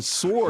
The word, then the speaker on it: sword: Well, I mean, sword, the W is silent in sword.